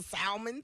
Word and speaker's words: salmon: uh yesterday and see if you put a l in Salmon one more time if you you pronounce the L why is it that